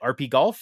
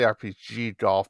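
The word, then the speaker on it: RPGolf: golf rpg golf our how would you say it rp golf or rpg golf i'd say rpg golf but i think they spell it with only one g okay rpg golf comes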